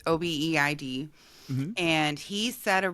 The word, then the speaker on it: Obeid: I believe that's how okay, you pronounce it. It's Obeid.